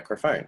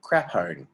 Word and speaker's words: Crafone: I'm like, no, because when you just see that written down, it looks like crapone. No one's going to read it as crafone.